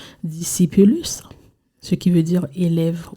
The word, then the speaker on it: discipulus: Donc, on va faire le latin, on va faire l'étymologie du mot latin, qui est on le prononce discipulus, ce qui veut dire élève ou bien apprenti.